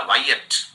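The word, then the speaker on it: Wyatt: Sir Thomas वाइएट, इसका उच्चारण याद रखिएगा, वाइएट।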